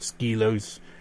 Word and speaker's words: Skelos: two inch actually what's the teen skills diamonds Skelos Badlands as I prefer to call it but I caught ski lows as well because that's how they pronounce the in-game so I got those did